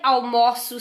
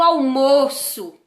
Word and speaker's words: almoço: Eu almoço cedo, com o aberto, almoço cedo, e o almoço com o O aí fechado, que está no sentido de substantivo.